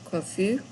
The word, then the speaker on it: confus: You don't pronounce the S if you're a boy, describing yourself or someone who's a boy, confus. If you're a girl, then you do. You add the E, confuse. Je suis confuse.